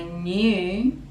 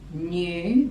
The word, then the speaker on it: knew: could even when I knew knew the k is silent I knew I never